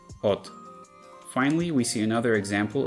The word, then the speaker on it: od: The same happens in the previous word, od.